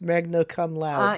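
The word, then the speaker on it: Magna Cum Laude: to pronounce it but I think it was intended to be pronounced Magna come loud oh gross okay right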